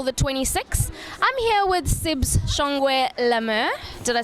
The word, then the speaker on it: Sibs Shongwe-La Mer: I'm here with Sibs Shongwe-La Mer.